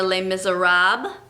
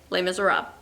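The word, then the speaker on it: Les Misérables: okay so um this is les miz or les miserables okay it's based on a book by a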